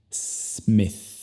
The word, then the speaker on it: Smith: Primero con las S. Nunca digas es. Es simplemente s. Luego, ya que la sílaba no es enfatizada, al escucharla, la vocal se convierte al sonido schwa. Y al final tenemos el sonido de TH.